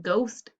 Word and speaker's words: ghost: b and last one g h ghost g and the silent letter is the h very good okay so